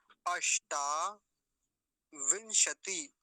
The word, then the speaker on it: अष्टाविंशति: अगला देखेंगे अष्टा विंशति, अष्टाविंशति, अष्टा में मूर्धन्य शकार, अष्टा विंशति, विंशति, अब एक तो